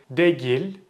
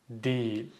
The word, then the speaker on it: değil: If you said something like değil or değil, it's incorrect. So this is one of the exception words that I mentioned before. Turkish is mostly phonetic. You read what you see, but for this word, you read it, you pronounce it as değil.